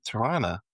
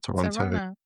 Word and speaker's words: Toronto: So we ended up here in Torana as they say it like in the local dialect not Toronto.